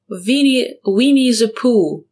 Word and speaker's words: Winnie the Pooh: Остання літера H, вона не читається. Winnie the Pooh.